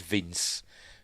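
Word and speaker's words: Vinz: a minute you know it says Vince but it's spelled vins with a zed as in Winston zedar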